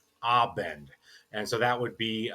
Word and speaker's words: Abend: It's not aend it is abend.